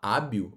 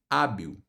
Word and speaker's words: hábil: Quando você fala hábil, olha que interessante, o som é esse aqui, ó. Deixa eu só aumentar o traço, família. O som é esse aqui, ó. A, olha aí, ó. O H sumiu. B, I. E olha o que acontece com aquele L final, ó. Você tem isso aqui, ó, hábil.